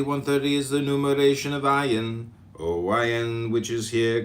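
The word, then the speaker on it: עין: Comment on ayin, pronounced ayin, transcribed as O, the number 70, meaning I, the renewing intelligence.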